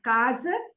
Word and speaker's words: casa: So casa is the first syllable has got A and second syllable has A. So it is casa. Casa. Casa. Casa. Casa. Casa. Casa. So the two Casa. A's have got different sounds.